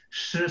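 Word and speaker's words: 诗: Shi se pronuncia.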